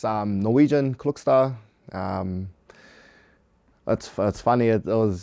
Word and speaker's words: Klokstad: up on Instagram and my cousin told me that we've been seeing our last name wrong the whole time so yeah one convey led to another and yeah my old lady told me it's uh cookster how does that make